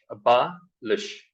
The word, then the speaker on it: abolish: So when we look at the US pronunciation, it is a abolish. So here, the difference between US and UK is in UK it is o, in US it is a.